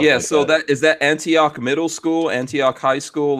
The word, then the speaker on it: Antioch: How do you pronounce this? Antioch? Antioch, yeah.